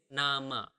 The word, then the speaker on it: nama: Name is nama. So quite similar, right?